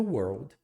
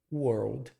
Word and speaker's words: world: writes the paper that changes the world. Uma pronúncia bem complicada às vezes que é a pronúncia da palavra world. Ele tem esse were no começo e um old final.